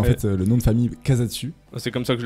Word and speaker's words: Casadesus: Donc en fait, le nom de famille Casatsu. C'est comme ça que je le prononce, donc Je fais très bien. tant mieux. Et après, t'as l'espagnol Casa de.